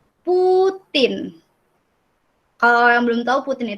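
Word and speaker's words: Путин: Nah, ini kan ada P, ada U, ada T, ada I, ada N. Bacanya Putin.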